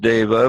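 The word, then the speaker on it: deva: happen Oh Lorraine says is a pronounced diva or diva I've never heard you know Edward you've been in different classes how do how do other people pronounce the word well they called davis i've always used daiva but so yeah we'll go with that divas are usually female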